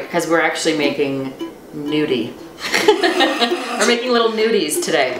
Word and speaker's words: gnudi: So actually gnudis, so G-N-U-D-I, gnudi. Oh, it's not N-U-D. No, there's always that silent letter to throw you off.